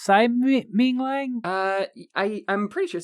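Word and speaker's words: Tsai Ming-liang: Director of Straw Dogs, we're talking, of course, about, it's pronounced Tsai Ming Liang? I'm pretty sure. Tsai Ming Liang.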